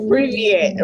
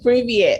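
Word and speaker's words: Привет: Privyet, right? Privyet.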